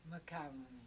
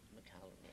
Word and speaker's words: McCallany: And the second name was his late father's name, McCallany. McCallany, I see. But Holt changed the spelling to try to help people pronounce it. Uh-huh. It's M-C, and then a large C, A-L-L, McCallany, A-N-Y.